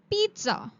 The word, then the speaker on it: pizza: Pizza. Not pizza. It's called pizza. There's a sound of T in pronunciation with double z.